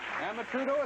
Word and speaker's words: Amatrudo: You're Louise Emma Trudeau, is that close?